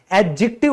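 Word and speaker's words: adjective: तो दोस्तों याद रखिएगा यह जो डी है ना यह हमारा साइलेंट होता है। तो कई जो मैंने टीचर देखे हैं वो कहते रहते हैं एडजेक्टिव पढ़ाएंगे। आज एडजेक्टिव करेंगे। ये बिल्कुल गलत प्रोनंसिएशन है। एडजेक्टिव बोला जाता है क्योंकि डी तो है ही नहीं यहां पे। वो बोला नहीं जाएगा। साइलेंट है।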